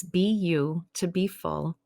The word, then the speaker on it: BU2BFULL: my company name is be you to be full hypnosis and coaching it is spelled awkwardly because it's you know the letter b the letter u the number two and then full but the reason i